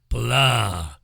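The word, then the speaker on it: blaa: all over the world to taste the blah it's spelled b-l-a-a blah and you put luncheon meat in it lunch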